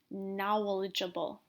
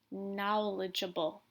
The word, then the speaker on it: knowledgeable: this is now Nawal so we would say knowledgeable knowledgeable okay now we're gonna move on to other four syllable words and these are ones where the